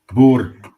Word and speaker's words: Boer: Bo thank you Bo Bo uh yeah I think phonetically you might in America you might say b o o r like Bo yeah Bo there it